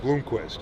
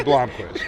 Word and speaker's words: Blomquist: real name yeah but he pronounced it bloomquest a Bloomquist he's wrong he's wrong Peter Blomquist okay uh the most